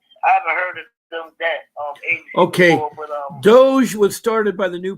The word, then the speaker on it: DOGE: Almost like Dodge. Doge. Doge. D O G E.